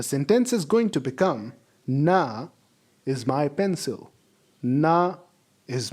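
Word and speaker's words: 那: Look at the tone above the letter A. It is the same tone that is on the letter E of ch. We are going to pronounce it as na, na, na, na, na.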